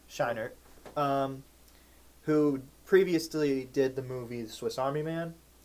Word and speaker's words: Scheinert: Yeah, Daniel Scheinert. Scheinert, who previously did the movie The Swiss Army Man with Daniel Radcliffe and Paul Dano!